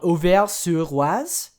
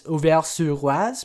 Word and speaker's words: Auvers-sur-Oise: And I'm pretty sure this is most likely a borrowing from the name of an actual village in France called Auvers-sur-Oise. That's Auvers-sur-Oise, meaning it's on the Oise River.